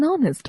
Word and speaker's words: honest: the following examples an honest man an hour we use n in the above examples because the consonant h is silent and the words begin with the vowel sounds now read these examples